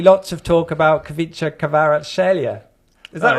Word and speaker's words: Kvaratskhelia: And then, deep breath, obviously lots of talk about Kavica Kvaratskhelia.